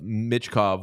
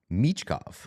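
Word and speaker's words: Michkov: the New York Islanders we've been saying his name wrong it's mov it's mov mov like Misha Barton exactly ex it's exactly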